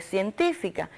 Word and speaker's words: científica: Y tenemos también el caso de científica, que es otra palabra esdrújula, pues si la dividimos en sílaba, también coincide que tiene su fuerza de pronunciación en la antepenúltima sílaba y es por eso que también se acentúa.